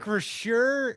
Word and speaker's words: Acrisure: I don't even know how to pronounce it. Acrisure, is that right?